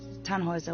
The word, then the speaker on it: Tannhauser: what's your name Tannhauser we pronounce it Tann Heuser with an armload German